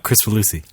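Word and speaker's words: Kricfalusi: Oh, Chris Falusi.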